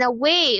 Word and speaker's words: away: And then away, away, away. So there's not, if you notice, ragwalay sound in pronouncing the word away. So because that is actually a schwa there. And then W, and then for the sound A, just like they, we use the diphthong EI.